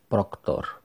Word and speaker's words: Procter: admit the fact that procter is pronounce proctor so was it written proctor with o because it was definitely pronounce proctor in both realities the same with the